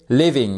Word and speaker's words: living: Il faut bien mettre donc cette accentuation sur la première syllabe.